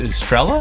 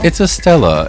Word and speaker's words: Estella: Is it Estrella? Am I saying it wrong? No, it's Estella.